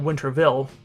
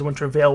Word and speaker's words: Wintervale: and no i'm not pronouncing winterville that is winter veil with a v-a-l-e at the end there i don't know